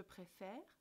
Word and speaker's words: préfère: On prononce « je préfère » mais « nous préférons ». Vous entendez la différence ? Je préfère, nous préférons. On change la direction de l'accent pour montrer que la prononciation est différente.